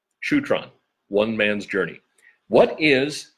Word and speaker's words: Shutran: Now, I've heard it pronounced Shutran and also Shutran, and it depends on who's saying it. I've heard Gary Young actually call it both at different stages. But pronunciation issues aside, there is more to the story of Shutran. I like to say Shutran because that's what I heard Gary say the most.